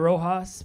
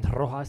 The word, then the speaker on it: Rojas: I will say my name is Rojas, but some people in Boston like to say Rojas. They like to roll their R.